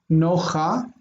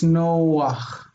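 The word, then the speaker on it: נֹחַ: It means that it's pronounced before the chet instead of after it. So it's not nocha, it's noach.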